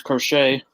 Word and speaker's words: Crochet: there you go it's it was crochet oh really yeah and that is how you say his name okay crochet you're doing